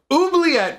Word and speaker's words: Oubliette: of on the screen, Oubliette, or I've also heard it pronounced oubliette, like maybe as the French pronunciation, I'm not sure.